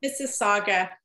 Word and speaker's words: Mississauga: It's pronounced Mississauga.